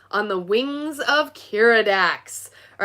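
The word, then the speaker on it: Keeradaks: Now, is it Kiridax or Kiridakis? Kiridax, that's the way it's spelled.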